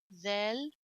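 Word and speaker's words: ذ: like del which is zell don't forget to stick your tongue out when you pronounce that three dots don't forget in fact three dots you have to stick your tongue a little bit out and with vel as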